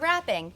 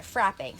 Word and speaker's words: frapping: Not wrapping, but frapping.